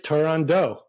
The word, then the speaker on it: Turandot: It is Turandot. Right, yeah. Because it has to rhyme with another O word.